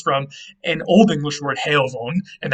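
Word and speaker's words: heofon: an old english word heyovon and that f would have been pronounced like a v so it's basically the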